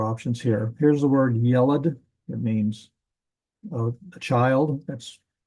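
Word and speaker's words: ילד: This is the only one we'll have to say a boy child, yelad. Notice the accent is on the first syllable.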